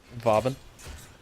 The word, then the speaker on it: Vauban: How did you just pronounce his name? Vauban. I don't call him Boobin Prime.